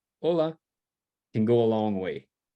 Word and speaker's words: hola: try these together um hola hola hola right emphasis on the o because it ends in a vowel so hola hola hello